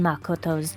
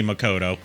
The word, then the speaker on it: Makoto: And that's how she says Makoto, by the way. Yeah. Which is actually the proper way to say Makoto. Oh, yeah. As far as proper Japanese pronunciations would go, it's Makoto.